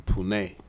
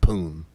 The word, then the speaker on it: Pune: an Indian entrepreneur from Pune and know people it is not pronounced poon poon you sure only in America um these guys and